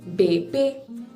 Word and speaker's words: bébé: It gives a sound from E to A, bébé.